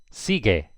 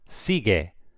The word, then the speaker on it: sigue: G-U-E, so the U is silent. Sigue.